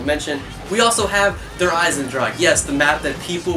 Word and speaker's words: Eisendrache: We also have Der Eisendrache.